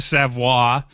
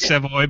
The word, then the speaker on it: Savvo: of art himself savvo it looks like Savo but it's pronounced savvo from savvo leather I've